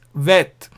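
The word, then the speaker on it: ב: You see this bet is pronounced as vet, v sound. Okay. And the remaining are the same. Now, but once we put in the dot, let's look at what happens when you put in the dot. The bet is pronounced as b, boy sound, b sound.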